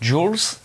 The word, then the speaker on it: Jules: en vo et donc ça se prononce jools mai en vf je sais pas ce que ça doit donner puisque ça s'écrit jules en fait et alors